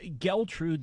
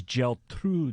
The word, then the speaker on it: Geltrude: my last name so a lot of people dealt rude the way it's pronounced people are is that German is a Jewish they never think Italian but the pronunciation Joe is gel through there that's Graz exactly